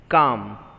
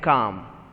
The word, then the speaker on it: calm: it is not correct calm so l is not to be pronounced it is silent c a m calm okay moving on to